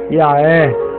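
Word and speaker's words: יה: a no nome i o h final é pronunciado como H aspirado por isso a pronúncia desse nome é ya então podemos também abreviar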